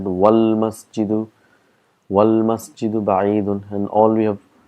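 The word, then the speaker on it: وَالْمَسْجِدُ: We say al-baytu qareebun, wal-masjidu, if you see here, it's hamzatul wasl, so we've got to put all our knowledge here, that's why we pronounce it wal-masjidu, ba'idun, and all we have, and that's a huruful qamar.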